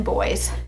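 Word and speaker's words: Beau: if the twins had both been boys they would have been Bo Grady and Bo is spelled b e auau and Grady is a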